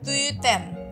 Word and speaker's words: tüten: kemudian ada lagi tuh tuten ada tuten ya itu u ti du bacanya tuten tuten kemudian ada n son